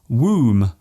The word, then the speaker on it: womb: For example, the B in comb, womb and bomb. There is only one letter change between these words, yet they are pronounced differently.